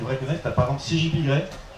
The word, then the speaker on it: CGP Grey: T'as par exemple CJP Grey. Donc ça s'écrit CGP Grey comme le gris, voilà.